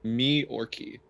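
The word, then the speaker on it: Myorki: new york new york m-y-o-r-k-i yorkie yeah but it's it's pronounced me orchy really not with this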